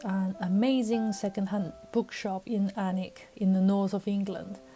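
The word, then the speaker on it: Alnwick: barter books is an amazing secondhand bookshop in anik in the north of england in my last video i said chizik is pronounced as chizik without the w just like warwick and anik it's this anic that butter books is located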